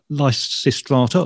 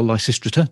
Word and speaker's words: Lysistrata: and I saw you've done Lysistrata or Lysistrata, depending which pronunciation we're going for this afternoon, quite a few times.